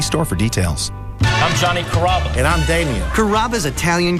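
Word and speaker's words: Carrabba's: chop it up pretty good you know Kaba kababa Kura it's a really easy name to pronounce it's Kaba come to kabas for dinner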